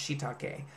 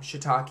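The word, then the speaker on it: shiitake: shitake out of stuff actually it's pronounced shitake I believe um shitake is the American version just as a PS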